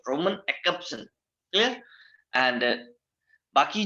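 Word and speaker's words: Roman Jakobson: ठीक है, एक तो है विक्टर स्लोवस्की, दूसरा है व्लादिमीर प्रॉप, ठीक है, तीसरे हैं रोमन जैकब्सन। वैसे एक्चुअल जो प्रोनाउंसिएशन है एक्सेप्शन है। ठीक है, जे साइलेंट है, रोमन एक्सेप्शन।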